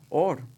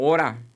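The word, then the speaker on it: אור: mi camino de hecho la palabra hebrea para luz es or o a veces se puede pronunciar como Ora y es interesante que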